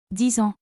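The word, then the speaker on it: dix ans: The X is pronounced Z because it links with the vowel in ans called liaison. A nasal vowel, you don't pronounce that N fully, instead air comes out through the nose.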